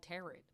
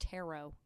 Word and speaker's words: tarot: I just watched a movie called Terret. It's actually pronounced tarot.